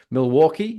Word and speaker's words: Milwaukee: I think it was, if I pronounce this correctly, forgive me if I get it wrong as a Brit, Milwaukee. Is that right? Yeah, that's right. That's it. Yeah, Yeah, it's an Indian word.